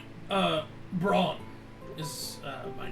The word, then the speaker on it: Braun: It was uh Braun is uh my name. How you spell that?